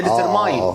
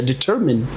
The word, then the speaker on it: determine: ديترماين هو متعود ان ديتر، وعشان في كلمه ماين زي ماين فهي ديترماين. لا هي ديترمين. مفيش حاجه اسمها ديترماين.